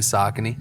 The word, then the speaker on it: Saucony: marketing specialist with the brand that we all love to mispronounce, Saucony, or Saucony. Which one is it? It's actually Saucony.